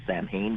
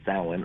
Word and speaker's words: Samhain: if you look at it spelled wise it's pronounced Samhain but it's really pronounced Alan um it's a holiday I mean the Halloween